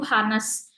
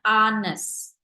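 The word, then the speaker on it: honest: tadi eh jujur itu tulisannya kan di kolom chat itu hanes tapi cara bacanya bukan hanes kita bacanya Anes A jadi Hnya kita hilangkan hest kayak gitu ya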